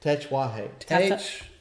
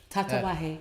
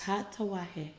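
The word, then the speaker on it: Tatuaje: How you say it? Techuahe. Tatawahe. Yes. Tatawahe.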